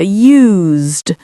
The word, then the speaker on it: used: And you may have noticed when I said that I made more of an S sound here, used. Whereas with this one, it has a sort of zed to use.